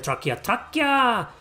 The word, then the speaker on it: Thracia: Okay, so there's the first one, there's the sequel, there's Gaiden, which later became Echoes, Genealogy, Thracia, Trachea, it's actually pronounced in Japan Trachea, 776, the Blazing Blade, no, the Binding Blade, the Blazing Blade, the Sacred Stones, Path of Radiance, Radiant Dawn.